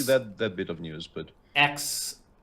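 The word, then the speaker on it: X Æ: I did see that bit of news, but XAE, even though I think the AE is pronounced Ash, A -12.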